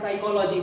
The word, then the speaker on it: psychology: और जो साइकोलॉजी word होता है हमारा, ये पी से स्टार्ट होता है, लेकिन अगर प्रोनाउंसिएशन की बात करते हैं तो वो एस से हमें लगता है, ठीक है ना।